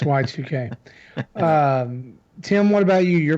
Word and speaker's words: YIIK: podcasts and news sites pronounce it yeek because it looks like YIIK, Yes. and I'm like, no, that's not how it's pronounced. It's Y2K.